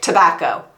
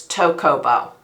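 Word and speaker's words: Tocobo: tocoo tocoo tocoo uh every time I see this every single time I'm like tobacco it's not it's tocoo and this is a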